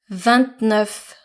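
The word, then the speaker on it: vingt: without the a so V notice how I pronounce the T of when there's a digit following V and not v v etc for so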